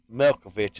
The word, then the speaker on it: Milkovic: That's Milkovic is how you pronounce his Novik Milkovic.